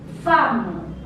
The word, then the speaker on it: femme: Now this word, the third word, femme. Femme. Femme means a lady. Femme. E is silent here.